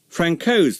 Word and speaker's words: Frankau: If anyone mispronounced the AU ending, Ronald would respond with this handy aide-memoire. Frankau's the name, Cow's the wife.